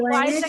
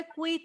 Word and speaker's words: quiet: এই কোয়াইটটা খেয়াল করো সবাই, হ্যাঁ কোয়াইটটা সবাই খেয়াল করো, একটু সাইলেন্ট, সবাই একটু চুপ থাকো। কোয়াইট মানে হচ্ছে কুইট না, কুইট মানে হচ্ছে আমরা